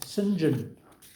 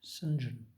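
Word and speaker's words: St John: of the pronunciations was this name sinjin i mean you don't get more sort of posh than saint john pronounced sinjin you're on that again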